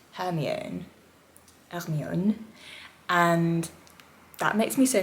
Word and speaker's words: Hermione: potter specifically in french is that hermione is pronounced hermione ernione and that makes me so happy because when